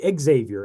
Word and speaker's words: Xavier: I've always said that just with the straight Z sound, Xavier.